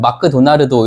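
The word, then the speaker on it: マクドナルド: 그래서 우리는 맥도날드 이렇게 발음을 하는데마도나 일본에서는 마크도나르도 이렇게 받침이 없다.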